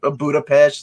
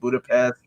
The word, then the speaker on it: Budapest: were a lot of good buddha patch not pronounced budapest i thought that was